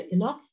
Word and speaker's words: enough: طبعا عندي هنا enough. Enough. يبقى طبعا هنا طبعا pronounce it F.